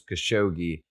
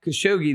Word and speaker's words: Khashoggi: was a journalist i believe his name was khashoggi is how he pronounced it uh and over there they're not